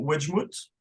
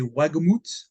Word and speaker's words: Wagemut: Alors, je ne sais pas quelle est la prononciation. Wedgmouth? Wedgmouth? Ouais, je parle pas allemand, mais je crois que c'est Wagemut.